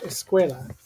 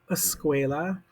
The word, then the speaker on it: escuela: This is the word school in Spanish, escuela. Do you hear how it's got like some sounds that are kind of there in both of them? Sk, l, l, school, escuela. And then I started thinking